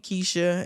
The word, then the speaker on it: Kysha: um I'm on social media as my name is spelled k y s h a Kesha and then it's